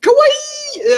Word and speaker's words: kawaii: cute, you would say kawaii. How would you spell that? It's Kawaii. It's like Hawaii.